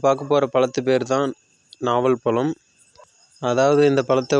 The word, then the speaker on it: நாவல் பழம்: ஸோ அப்படி நாம் பார்க்க போகிற பழத்து பேர் தான் நாவல் பழம். அதாவது இந்த பழத்தை ஒரு சிலர் நாவற்பழம்னு சொல்லுவாங்க, நாவற்பழம்னு சொல்லுவாங்க, ஒரு சிலர் நாவல் பழம் அப்படின்னு சொல்லுவாங்க. அந்த உச்சரிப்புங்கிறது கொஞ்சம் டிஃப்ரென்ஸ் ஆகும்.